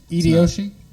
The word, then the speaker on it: Hideyoshi: Is the H silent? No. Hideyoshi.